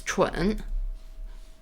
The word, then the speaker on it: 蠢: So when you call someone that is like idiot or dumb, there's a word that pronounced very similar to 春. It's 蠢.